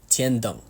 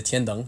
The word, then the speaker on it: Tienong: It is the Tienong. Now, before you mock my pronunciation, I speak Mandarin. Trust me, this is the correct pronunciation. It's not the tiang. A lot of people have been saying that it's the tiong. You don't have to say it like that, though.